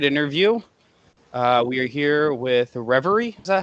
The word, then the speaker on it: Reverie: We are here with Reverie. Is that how you pronounce it?